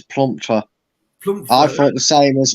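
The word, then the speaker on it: Plumptre: they had now I thought it was actually Plum Tree here that used to play for Leicester but apparently that's not her name is it not uh it's planter I thought the same as me but it's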